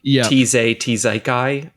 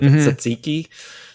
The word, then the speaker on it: tzatziki: Well, he does a lot of rage bait with the way he pronounces things, like Tzaikai instead of tzatziki.